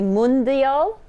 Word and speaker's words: mundial: want to say it correctly, so it's the Mundial menu. Mundial.